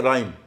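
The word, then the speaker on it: rhyme: नहीं होता है और एक आर के बाद भी अगर एच हो तो एच का उच्चारण नहीं होता है जैसे राइम तुकबंदी करना रिदम रिदम को रिदम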